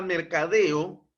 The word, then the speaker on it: mercadeo: con acento prosódico No yo puedo dividir esta palabra mercadeo mera de deo no entonces el mayor impulso de voz se encuentra Precisamente en la última sílaba deo publicidad separo la palabra